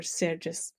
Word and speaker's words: Sergius: translations it's and and he himself he used the name seris so the Latin form this so not everybody agrees uh if if we should tell say Sergi or sergis sure well yeah I'm